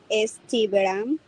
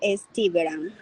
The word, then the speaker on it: estiveram: Ele, ela esteve, nós estivemos, vocês estiveram, eles, elas estiveram. Aí, ó, a sílaba tônica é na penúltima.